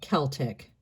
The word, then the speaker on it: Celtic: Celtic. Think of it as being spelled with a K. It's not. It's just a hard C.